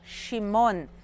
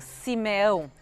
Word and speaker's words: Shimon: dos filhos de leia se chama shimon que significa aquele que escuta em português a gente normalmente pronuncia como Simeão e o símbolo da